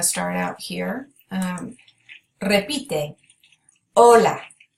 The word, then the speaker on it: hola: out to you that this H is silent when we say words with an H it's act as if it's not there but it is spelled